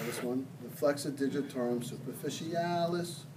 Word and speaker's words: flexor digitorum superficialis: call this one, the flexor digitorum superficialis. You have to say it like that. Did you ever watch Mary Poppins? You know, No. supercalifragilisticexpialidocious, even though the sound of it may sound atrocious.